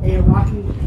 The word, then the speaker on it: Aoraki: If it wasn't socked in and drizzling, you could see Mount Cook, Mount Aoraki, at least how you say it, which is the Maori name for the mountain that's pierced the clouds.